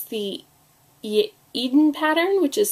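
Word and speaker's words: Eadon: posts so she has uh so it's the Eden pattern which is spelled e a d o n and it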